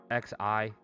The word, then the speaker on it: Xi: The Xi sounds like she. Oh Jin God. like Jing. Can you just tell me what everybody says, like, to make it short? Most folks just say Xi Jinping.